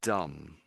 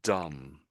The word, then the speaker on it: dumb: So, Leernov decided to play dumb. So, I'm saying dumb. So, the final B is silent.